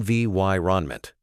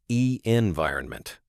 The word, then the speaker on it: environment: And a pronunciation tip, stress the second syllable in environment on vy renment, not e environment.